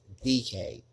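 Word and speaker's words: Dike: It's spelled D I K E, but it's pronounced DK.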